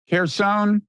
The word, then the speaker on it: Kherson: How you pronounce it? Kherson. That's the conventional reading.